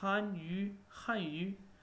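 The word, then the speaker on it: 汉语: Yu, when you pronounce han yu, just like chew, chew, chew, chewing gum. So it's like han yu.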